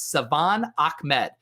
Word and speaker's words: Salvon Ahmed: And I hit up my buddy Laird and I said, hey, how do you pronounce his name, your backfield mate? And he said, it's Salvon Ahmed.